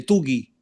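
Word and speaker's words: Tuggy: También puede ser el diccionario ilustrado de Wilton Nelson y también el diccionario exegético expositivo de griego de Tugi. Tugi. Se escribe ¿Cómo es?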